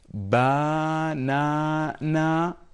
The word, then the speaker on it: banana: Do we say, I'm asking you this question, do we say banana? No, of course. We say banana, okay? So this A is reduced, okay?